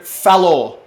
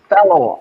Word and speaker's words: Fallaw: So Fallaw. You just go Fallaw. fal and then law. Fallaw. You just say it like fast.